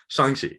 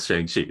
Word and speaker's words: Shang-Chi: to be the definitive youtube about how to pronounce chongqi's name it is shangshi because because yeah like if you read like